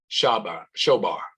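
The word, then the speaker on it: שָׁבַר: Then I'd like to give according to the Hebrew, Strong 7665, broken, pronounced shobar.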